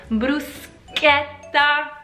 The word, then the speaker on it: bruschetta: Bruschetta, CH for us, cha, sha, normal, right? Wrong, the correct pronunciation is bruschetta, bruschetta, because Italians do pronounce CH K, like a K.